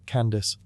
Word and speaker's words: Kandake: The Greeks pronounced it as Candace, and that's how it trickled into Western texts.